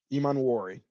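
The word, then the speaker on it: Emmanwori: I like the way E Monuori moves. Did I say it right? Iman Wari.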